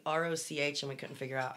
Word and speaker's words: Roch: we talked about saying roch and we couldn't figure out how it was pronounced oh yeah um my my ex-friend member hi e um she said saint rock is pronounced rock oh and he's the